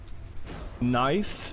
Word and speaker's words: knife: It's not a English sound. That's why the K is silent.